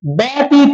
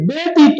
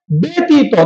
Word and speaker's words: ব্যতীত: এ এর মত হবে আবার বলি শব্দের শুরুতে জ ফলা থাকলে তার উচ্চারণ এ এর মত হবে যেমন দেখো তো এখানে আমরা কিন্তু বলিনি ব্যতীত এটা বলিনি আমরা বলেছি কি ব্যতীত উচ্চারণটা কি হবে ব্যতীত তাহলে দেখো এই যে